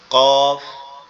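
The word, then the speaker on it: ق: এটা কোথা থেকে উচ্চারণ হবে? এটা জিহ্বার গোড়া, তার বরাবর উপরে তালুর সঙ্গে লাগবে। জিহ্বার গোড়া তার বরাবর উপরে তালুর সঙ্গে লাগবে, অর্থাৎ জিহ্বার গোড়ার অংশটা উপরের তালুর সঙ্গে লেগে উচ্চারিত হবে কফ, কফ, কফ, কফ, কফ, কফ।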